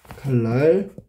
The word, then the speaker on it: 칼날: 4번 칼날. 표기는 칼날이지만 발음은 칼날 이렇게 해야 되겠지, 그지? 여기서 다 바뀐 게 뭐야? 니은이 리을로 교체됐네.